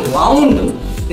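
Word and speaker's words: wound: धाब घाव घाव घाव वुंड का मतलब घाव और जब बोलेंगे वाउंड स्पेलिंग सेम है और प्रोनाउंसिएशन क्या है अलग है मीनिंग क्या है अलग है तो उसको क्या बोलते हैं होमोग्राफ्स बोलते हैं।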